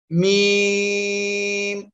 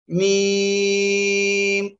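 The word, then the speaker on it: ميم: সবাই এই অক্ষরটা বলেন মিম। এই অক্ষরে টোটাল আমরা টান দিব, 4 লিপ টান দিব, মিম।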